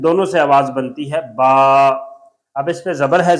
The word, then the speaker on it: با: سے آواز بنتی ہے با۔ اب اس پہ زبر ہے، زبر میں منہ کھلتا ہے، با، با، پتلی آواز، با۔ انگلش سپیلنگ ہے بی ڈبل